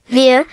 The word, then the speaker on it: vier: drei, pronounced like dry, vier, pronounced like fair, fünf, pronounced like fünf,